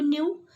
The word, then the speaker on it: knew: Again, just pay attention to this word NEW knew and KNEW knew. दोनों का जो pronunciation है वो सेम है, लेकिन दोनों का मीनिंग अलग अलग है.